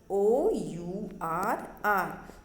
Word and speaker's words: hour: Okay, जो हमें clock आर्स बताती है ना, HOUR, सो आर। सो ये HOUR है बट हम वहाँ पे NR बोलते हैं बिकॉज H वर्ड जो है, H लेटर जो है वहाँ पे साइलेंट है, और उसे हम क्या प्रोनाउंस करते हैं?